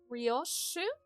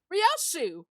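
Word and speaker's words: Ryōshū: Uh, Rio. No, that is not how you read these letters. your shah that is how you say it rashu it's much prettier and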